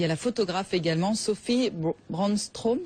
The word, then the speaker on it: Sophie Brandström: Livre Manufactura aux éditions PC, parce qu'il y a la photographe également, Sophie Brandström, c'est comme ça? Oui, suédoise. C'est ainsi que l'on prononce.